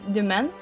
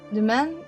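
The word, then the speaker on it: demesne: Demen. It's an archaic spelling of domain and is pronounced the same. What? Demen is almost like domain instead of with an ih sound instead of an o.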